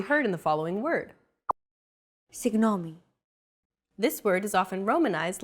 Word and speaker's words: Συγγνώμη: This character isn't pronounced using an English G sound at all. Γ. It's like a very soft, continuous, and loosely held G, almost as if you're gargling, but don't make it sound too throaty.